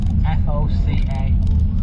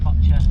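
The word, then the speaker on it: Foča: We're off to a little town called Foca, which might be pronounced Focha and not how we all want to say it.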